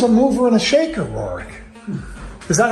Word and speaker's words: Roerich: He was a mover and a shaker, Roerich. Is that how you pronounce his name?